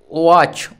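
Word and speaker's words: watch: দেখো ওয়াচ, ওয়াচ মানে হচ্ছে ঘড়ি, ডব্লিউতে ও, এতে আ, টিটা সাইলেন্ট থাকে নিয়ম অনুযায়ী এবং সিএইচে চ, ওয়াচ,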